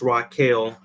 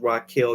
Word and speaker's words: Rachel: Rachel but it's pronounced Rael so it's spelled Rachel but she pronounces Rael Israel she has a